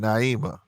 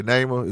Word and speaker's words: Neymar: for a whole hour neymar is that your is that how you pronounce your name neymar let me know i don't like pronouncing people's names wrong or was it naimah okay neymar is right okay all right name